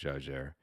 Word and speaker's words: Jaeger: a German name but in French it is pronounced Jer um and then the the second part and